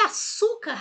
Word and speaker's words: açúcar: portanto é pr paroxítona e açúcar a sílaba tônica é o Su então é paroxítona fácil não é então